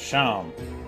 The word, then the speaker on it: Seam: Name Seam. Pronounced Sham.